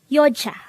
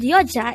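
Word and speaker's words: 여자: 125 yo yo this is pronounced as a two-syllable word the first syllable is yo the second syllable is pronounce it with me the word yoja is simply the korean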